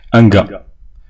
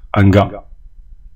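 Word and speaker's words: un gars: أنغا سمعتم نطق أ فقط هذه الأ والإر والإس نطق فقط أ كا هكذا أنغا أنغا كذلك مستعملة. أمك أنغا ما تهتمش قلت لازم تنتقل أغ والأس فقط أنغا هو رجل كذلك.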